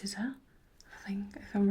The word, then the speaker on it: SZA: The answer is SZA, but I'm sure it's pronounced SZA, I think, if I'm right. I don't really listen to her music, but I think that's SZA, isn't it?